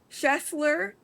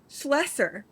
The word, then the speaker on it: Schlesser: Schessler, Schlesser, it's Schlesser. Feel like I'm like sneezing.